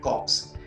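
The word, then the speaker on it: corps: होगी NCC national cadet कॉर्प्स इसमें भी कॉप्स का जो एप्स है और पीएम ओं साइलेंट होता है इसके परिणाम शुभ इसी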